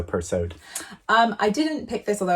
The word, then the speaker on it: Persaud: And yes, you are supposed to pronounce the D in her surname, so Persaud.